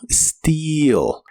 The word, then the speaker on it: steal: Las letras EA de esta palabra se pronuncian como una I larga o doble y suena como steal.